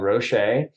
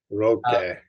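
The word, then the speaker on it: Rocche: Roque. It's a hard C.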